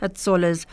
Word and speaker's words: Hatzollah: United Hatzollah Israel.